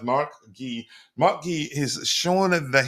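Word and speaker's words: Marc Guiu: Guri Mguri uh M Gee I think he says his name is pronounced Mark Gee Mark Gee is shown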